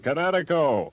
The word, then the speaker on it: Kinetico: Oh, son, you should have remembered kinetic as in kinetic energy with an O on the end. Kinetico.